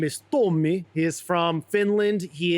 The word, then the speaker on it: Tomi: Tomi is how you pronounce it, or Tommy? Tomi. Tomi. Yeah.